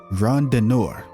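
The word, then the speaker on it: Randonneur: Rondinor.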